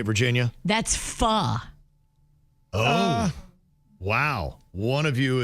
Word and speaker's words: pho: A lot of people do what Jaybird did, and they go pho, and it's pho.